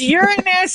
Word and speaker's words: Uranus: It's Uranus.